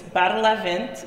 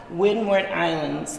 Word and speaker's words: Windward Islands: So they're separated into two regions, Bartelavent and Saltavent, Wayward Islands and Leeward Islands.